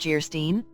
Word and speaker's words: Geierstein: offering it for sale Anne of geierstein pronounced jerstein or the maiden of